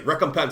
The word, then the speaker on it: Recompense: And that's actually how you say that. I looked it up. I almost said Recompense. I didn't even know what to say. Recompense is how you say this.